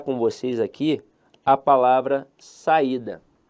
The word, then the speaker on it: saída: E eu quero avaliar com vocês aqui a palavra saída. Veja que a sílaba tônica dela está na penúltima sílaba.